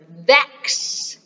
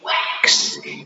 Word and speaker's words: vex: And it is the word vex. Vex. Vex means to bother. And the islanders use that, but a lot of times they pronounce it wrong. They say wax instead of vex.